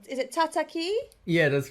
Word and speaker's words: Tataki: Is it Tataki?